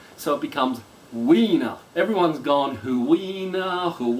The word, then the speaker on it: Huina: Ina is actually pronounced winner like winner but we know we know it's like a w but with a kind of a h pronunciation at the beginning so it becomes weiner everyone's gone who we